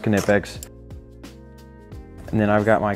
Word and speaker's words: Knipex: wire strippers alignments all quinipex of course yes it's pronounced kinepics and then i've got